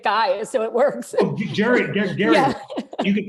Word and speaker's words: Gerry: Actually, I learned now that you pronounce his name Gary, so if you want